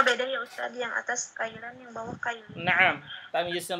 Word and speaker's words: كيلا: Tuna kailan, ini kafnya fathah ya, kailan sesuai dengan suara kailan dan mi'atu kailin ya,